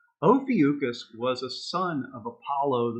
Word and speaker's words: Ophiuchus: 10 years old, I never knew how to pronounce his name, but you'd call him Ophiuchus. Ophiuchus was a son of Apollo, the sun god.